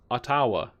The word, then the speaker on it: Ottawa: around the world weather in Seattle that's funny Ottawa is not the top five cities bro you could at least spell it right it's not Ottawa it's not Ottawa it's aawa an a man jeez but yeah I don't